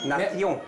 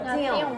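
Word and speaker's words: nación: 예, 스 발음으로. 나티용 이렇게 되죠. 나띠용.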